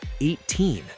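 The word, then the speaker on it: A'TIN: We now know that the fandom for this group is called 18. Pronounced like the number, and the reason behind it is beautiful.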